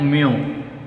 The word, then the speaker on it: mu: How to pronounce it? So you should read it like this one. You should read it as mu.